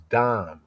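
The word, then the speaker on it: דם: That you may not bring the guilt of blood of dam in Hebrew, blood is dam. It's like when we say dam in the English pronunciation, we say dam.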